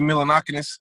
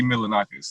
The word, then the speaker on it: Milonakis: But Just like Andy Milonakis. I said that name wrong. Andy Milonakis.